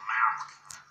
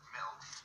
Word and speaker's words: milk: you're saying it wrong. You're saying Malk. Like it's a disease. Obviously. I'm saying it the way everyone ought to say it. Milk. M-I-L-K.